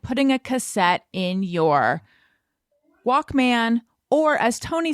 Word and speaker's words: Walkman: though i still it it's not even walk men it's walkman it's like like like david letterman it's spelled man but it's walkman you say in my walkman you don't say walk man oh wow thank you